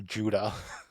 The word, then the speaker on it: Judah: but sometimes it'll give you the pronunciation for Judah. And it's Joo-D-U-H.